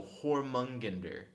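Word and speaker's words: Jörmungandr: there Jedi Kratos said also the J and Jormungandr is pronounced as an H so hormone ginder and then guys Allah said always pronounce it with a Y your mug and like that then Kratos said oh that works too I usually don't pronounce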